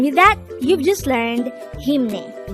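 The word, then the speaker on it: 힘내: this is pronounced as a two-syllable word the first syllable is him the second syllable is pronounce it with me the word hemne is used to say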